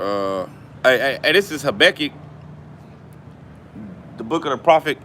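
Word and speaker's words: Habakkuk: hey hey this is habecky the book of The Prophet have a cook also known well some brothers pronounce it Becky or have a cook habeck chapter two all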